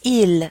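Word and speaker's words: ils: two examples e dance notice how this IL right here has that silent S at the end and we're talking about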